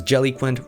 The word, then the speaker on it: Jellyquint: Hi, my name is Jellyquint, rhymes with eloquent, and this is Low Spec Streaming.